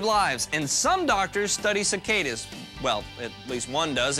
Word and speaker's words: cicada: some doctors save lives and some doctors study cicadas well at least one does and here he